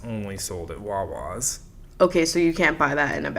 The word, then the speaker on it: Wawa: I guess people don't pronounce Wawa correctly, so it's like it rhymes Wawa. with it rhymes with saw.